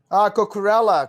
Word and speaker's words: Cucurella: Cucurella. Cocorella, Yeah, yeah.